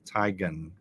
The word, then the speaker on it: tigon: Tigon. Lion, Zion, tigon. Tigon. We're going to say it like that.